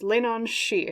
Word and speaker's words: Leannan: As you recall, your pile leader, and I looked it up, it's pronounced Leannan, so I was sort of right with the she part, but it was a bit shaky, so I just made sure to look it up.